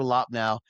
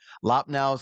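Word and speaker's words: Loppnow: Um, so if you get a chance, if you ever go to Wasau, go to Lopnau. Lopnau, I think it's spelled uh, yeah, I do have it right here, I think.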